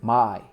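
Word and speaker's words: maai: Yeah, it consists of two words, ma and I together, Mai.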